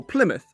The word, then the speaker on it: Plymouth: places like this and while it's spelled mouth we say muth for example portsmouth or plymouth and i kind of